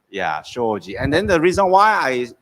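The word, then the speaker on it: 商事: right correct sorry trading in japanese it's called shoji choji yeah shoji and then the reason why i i picked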